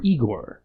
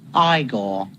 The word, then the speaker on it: Igor: It's pronounced Frankenstein and Igore or Eigor. No, it's pronounced Igore.